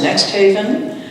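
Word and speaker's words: NXTHVN: the times was so interested in this is pronounced next Haven it's located in the Dixwell neighborhood of New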